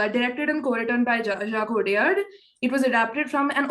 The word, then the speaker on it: Jacques Audiard: I don't know how to pronounce his French. Jacques Audiard, yeah.